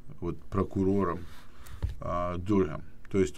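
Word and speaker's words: Durham: В данном случае, в принципе, разницы никакой между Маллером и господином Дурхэм. Кстати, зовут этого прокурора Джон Дурхэм или Дурхэм, правильное произношение.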